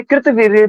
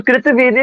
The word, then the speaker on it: कृतवीर्य: कार्तवीर्य आपको लिखा मिलेगा कहीं-कहीं पे कृतवीर्य भी बोला जाता है उनके नाम को तो कृतवीर्य या कार्तवी जो भी नाम है दोनों सही है दोनों नाम सही है जो भी आप